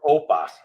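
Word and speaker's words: OPA: opens open policy enter oppa which is it's commonly pronounced it's an open source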